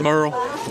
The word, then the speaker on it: Morell: Hall of Fame and Bill Morell am I pronouncing that right Merl Bill Merl Merl yeah coach Merl coach ml